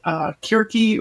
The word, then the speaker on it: Circe: Wrote a book called Kirke or Circe, depending on how you want to pronounce it.